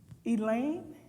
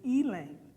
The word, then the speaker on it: Elaine: what the Elaine what Elaine she said like the name Elaine's but they pronounced in Ealing and I had just